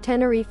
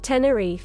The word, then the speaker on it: Tenerife: it literally says here, Tenerife. Scammers get scammed, but the British do pronounce it like this. Tenerife.